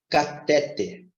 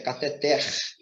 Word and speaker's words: cateter: de uma palavra paroxítona Só que essa palavra não é paroxítona ela é oxítona então Observe como é que é a pronúncia dessa palavra já que a sílaba mais forte correta dela é o terno então a pronúncia correta é cateter é um grupo de